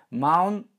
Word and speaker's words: mountain: давайте попытаемся провести слова mountain не так как я бы сейчас произнес а правильно маун то есть первый звук н вы произносите как вы привыкли произносить и второй звук н вы произносите через гортань переходя плавно в нос на он нам на